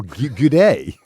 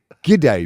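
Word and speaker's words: G'day: say hey mate or good day they're the two that great on me G day mate it's like it's for some reason cuz you it's not good day it's g day as in gidy up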